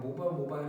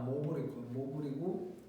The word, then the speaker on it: mobile: 모바일 크라우드 뭐 내가 보통 너네들한테 얘기할 때 막 모바일 했는데 이게 미국식으로 발음하면 아마 모블이고 그리고 영국식 발음이 이제 모바일.